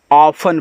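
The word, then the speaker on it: often: टी इ एन हो तो यहां पे आपका टी साइलेंट रहेगा तो इसको ऑफ्टेन नहीं ऑफन पढ़ते हैं ऑफन ऑफन का मतलब होता है अक्सर।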